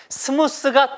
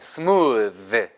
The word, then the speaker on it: smooth: 스무스가 틀린 발음이에요, 여러분. S-M-O-O-T-H는 해보세요. 스무드. 스무드. 무드를 잘 이끌어간다.